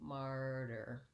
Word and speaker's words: martyr: and try mar and then the ending is just the same martyr so i still have my long stressed syllable on mar and my short unstressed syllable on the der martyr so matter and